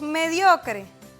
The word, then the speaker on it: mediocre: Tenemos mediocre. Vamos a dividir mediocre. Mediocre. Ahí está. ¿Dónde ustedes creen que está el acento? ¿Ves? Está en dio.